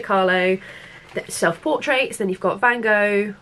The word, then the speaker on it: Van Gogh: self-portraits then you've got van gogh van gaal if you want to pronounce that way that's still life andy